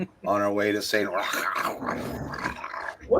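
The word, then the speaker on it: St. Roche: I'm sure it's St. Ro, but we just we just embellished it a bit. It's actually not pronounced that way. It is pronounced rock like R O C K.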